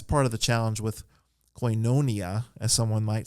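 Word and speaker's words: koinonia: that has the accent coinonia has uh a pair of vowels at the beginning of that it's Capa amarran Yoda and that's a diff thong and it has the circumflex accent over the Iota so coin coinonia or coinonia with a short o the Omicron so there's some rules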